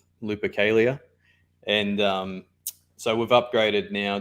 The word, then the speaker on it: Lupercalia: for how do you say that upgrade name lipicalia lupercalia that's it so the um the planned upgrades